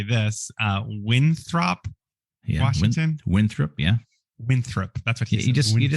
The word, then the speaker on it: Winthrop: You just make it a little more casual. You just kind of Winthrop instead of pronouncing the word Winthrop how it is spelled. Just give that second syllable just a little more of a casual throp.